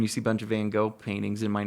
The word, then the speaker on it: Van Gogh: see a bunch of Van Gogh paintings. It might not come out directly in your art, but it's still in there somewhere, right. I think, sometimes. I always pronounce it the John Lennon way.